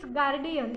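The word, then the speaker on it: guardian: भी you silent है और गार्जियन इसमें भी हम यू का उच्चारण नहीं करेंगे उसके बाद मैंने नीचे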